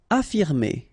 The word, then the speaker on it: affirmer: Affirmer. Okay, even if we've got two F, well, only one should be pronounced, so affirmer.